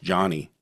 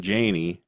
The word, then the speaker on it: Jani: He changed his name to Janie, but I feel like he wanted it to be pronounced Johnny. J A N I. And but everybody called him Janie and that's just stuck.